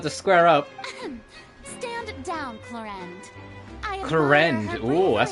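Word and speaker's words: Clorinde: time I've had to square up and down clarende oh that's how you pronounce the name I refuse to pronounce it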